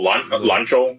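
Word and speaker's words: Lanzhou: I just I want to eat some Lanza or Lanzo or however you pronounce it. Noodle soup. Oh, Lanjo.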